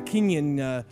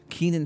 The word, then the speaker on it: Kenan: they gave it to that other kid, the Kenyon. What's his name? Kenyon Thompson. Kenya Thompson. Kenya Thompson? Name, yeah. Whatever no, his no. fucking name is. What is his name? Kenan Thompson.